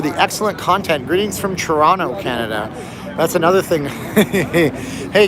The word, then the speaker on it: Toronto: Hey guys, when you're in the United States and you say Toronto, don't say Toronto. It's funny because Canadians don't say it like that, although it's pronounced that way.